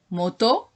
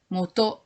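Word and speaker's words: 本: alors donc le Candy ce Candy ça se prononce moto c'est la prononciation yamatos c'est la prononciation mot japonaise mot japonais pardon moto qui signifie origine alors la décomposition de Candy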